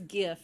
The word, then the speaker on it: GIF: let's just declare it it's gif it's not jeff tell us in the